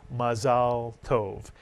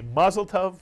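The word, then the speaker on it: מזל טוב: on a happy occasion one says in Hebrew mazalov in Yiddish Alex ma maslov exactly right and whether you say mazeltov which is the yiz again of the Hebrew mazalov or you say it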